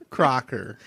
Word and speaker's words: Crocker: your last name is just think of croc like crocs it rhymes with soccer crocker focker crocker oh anyways